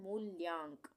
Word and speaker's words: मूल्यांक: मूल्यांक, यहाँ पर भी आधे ल का उच्चारण हो रहा है, मूल्यांक, मूल्यांक। इसको हम पढ़ेंगे मूल्यांक, ये बिंदी लग गई ना।